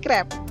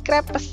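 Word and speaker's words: crêpe: Udah pernah makan crepe? Bacanya jangan lagi crepes ya, tapi crepe.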